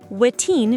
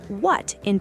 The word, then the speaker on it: wetin: Wetin means what in Pidgin. It's a combination of what and thing. Pronounce them. Wetin. 2 syllables. Not what in, it's wetin, with the first part sounding like way but shorter.